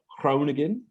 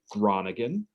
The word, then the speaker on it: Groningen: the university of cronigan my pronunciation would probably be condemned by somebody from the netherlands but i do my best uh at geneseo you're often gonna hear it referred to as the university of groningen uh though no one in the netherlands would ever pronounce it that way um joining me is